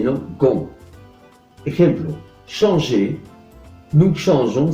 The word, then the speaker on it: changeons: Ejemplo, changer, nous changeons, se añade una E después de la G, como hemos visto estudiando la fonética con el verbo manger, para que la pronunciación siga je y no se modifique al G, mientras la pronunciación es